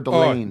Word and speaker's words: Delane: his name, but you will know how to pronounce it, so that's good. Uh LSU quarterback Mansur. Is it Delaney or Delane?